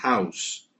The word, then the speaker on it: house: House casa boy menino House pronúncia com s tá House agora reparem que eu